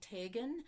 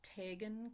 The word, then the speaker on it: Teigen: Another one she taught us was Polka after Archie Teigen. I had to learn how to pronounce Teigen correctly.